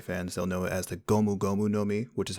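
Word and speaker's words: ゴムゴムの実: the japanese anime fans they'll know as the gomu gomu nomi which is how you pronounce gum gum fruit in japanese it is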